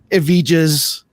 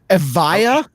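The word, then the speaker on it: Evija: the remax and the avijas okay okay i i can never pronounce that lotus correct guys right what is it avaya avaya so so the j is just okay we're going off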